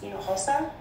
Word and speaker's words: Hinojosa: My last name was pronounced Hinojosa, and you should utilize your Spanish interpreter to actually pronounce the last names of people who live here locally.